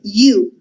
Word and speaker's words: you: In questo caso la O non si sente. You, che vuol dire tu.